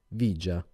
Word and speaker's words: villa: di qualche film apocalittico la villa 31 disse il tassinaro pronunciando vigia i quartieri malfamati le